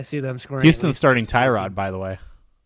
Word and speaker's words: Tyrod: them screaming houston's starting tyrod by the way it's actually pronounced turad i don't know if